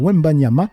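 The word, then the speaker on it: Wembanyama: Ça parle du basketteur Victor Wembanama. C'est comme ça qu'on prononce he parce que moi j'écorche constamment le nom des gens.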